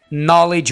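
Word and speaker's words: knowledge: कि जी ऑनर चाहिए नॉलेज होना चाहिए ठीक है यहां पर हमने के को भी साइलेंट रखना है याद रखिएगा ओके अब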